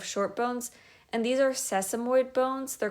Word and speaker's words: sesamoid: yeah that's the only sesamoid bone that you probably care about some people will mispronounce it seismoid bone that does not help because sesamoid will tell you the shape of it so because the long